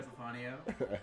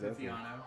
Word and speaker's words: Epifanio: My name's Epifanio. Not Epifiano. Sorry. It's all good. Epifanio. Not really. It's spelled exactly how it sounds.